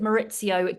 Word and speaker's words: Maurizio: Obviously to my love Dorit, but also when she saw Maurizio, and I pronounce it Maurizio just like Ken Dodd does.